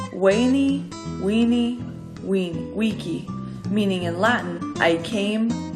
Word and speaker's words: veni vidi vici: battle Caesar famously claimed veni vidi vici pronounced in Caesars day as weyni we we we key meaning in latin I